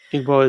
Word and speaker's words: Igbo: That's a language in Igbo is Nigerian in Nigeria. Yeah. And so that that one Igbo. Okay. No, I think the G is is is silent. Oh, you don't even say the G.